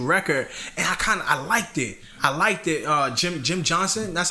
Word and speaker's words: Jim Johnson: Jim Johnson, that's how you say his name.